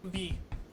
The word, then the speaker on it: Lev: I hope that's the right pronunciation. It might be. Ah, we got it. That's how I've heard it said from That sounds- other Americans. That sounds about right. Lev. That's how they say it in Haikyuu.